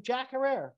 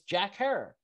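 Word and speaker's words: Jack Herer: was doing it correctly all this time i've been calling him jack herrera and it's jack hair got it haircut there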